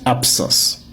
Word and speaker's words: absence: Le mot se prononce absence. Letre ba devant S là la son P.